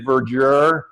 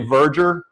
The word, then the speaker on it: verdure: And everyone mispronounces it, but it is, we sort of say verdure, but it's really verdure, V-E-R-D-U-R-E.